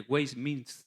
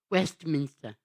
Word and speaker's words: Westminster: fue pastor durante décadas en la catedral de West miner es así a wmin espérate ahora sí Westminster perfecta pronunciación westminister algunos podían decir de Martin que